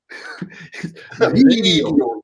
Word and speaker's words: Veed.io: I think it's pronounced video. Video, yes.